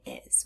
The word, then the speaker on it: is: So let's look at that last sound in is. We hear the sound z, but it's spelled with the letter s.